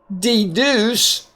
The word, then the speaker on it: deduce: Now the next one, notice here the C is going to have the S sound because of that E after it. So here we have deduce, and the E here is long at the end of a syllable.